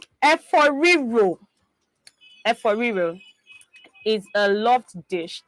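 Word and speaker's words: efo riro: Eforiro. Eforiro is a loved dish that is widely consumed in what state? Eforiro. There's no option for Or did I say that right? Eforiro yes, you said it right.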